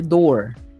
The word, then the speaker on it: door: Ya, por ejemplo, en lo que es pronunciación, pues, fíjese aquí que, por ejemplo, cuando usted dice door, suena O, door. Pero claro, generalmente la doble O suena U.